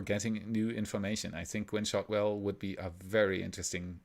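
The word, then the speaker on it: Gwynne Shotwell: know and i did not know how to pronounce her name correctly so i said gwinnie shotwell which i actually like better than gwen shot well still but it's gwen shotwell and mike always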